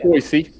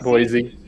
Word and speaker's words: Boise: They pronounce it Boise. Okay, it's pronounced Boise. Oh, really? It's not Boise.